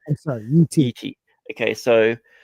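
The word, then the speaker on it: Yi Ti: Like, it's right on the borderline of how do you pronounce Yitai? Yitai or Yiti. Yitai. I'm sorry, Yiti.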